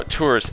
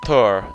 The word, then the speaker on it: Tours: It's Tours. I think that's how you say it. It's like it's French.